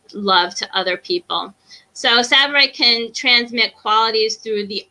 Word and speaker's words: Tsavorite: So the next is also a green garnet, and this one is called Tsavorite. So the T is silent.